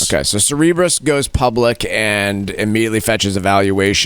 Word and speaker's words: Cerebras: I found out it's actually pronounced uh Cerebras, not Cerebros. Okay, so Cerebras goes public and immediately fetches a valuation of 95 billion.